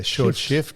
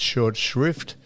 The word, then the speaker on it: short shrift: Which is one of the most mispronounced uh phrases. Don used to say short shift. Shift. Yeah. Short shift, but it's short shrift as in a blue ribband event is a